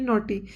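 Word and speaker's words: knotty: word जो कि है नट इसमें के साइलेंट होता है नॉटी बोलते हैं नॉट नॉट बांधो नॉट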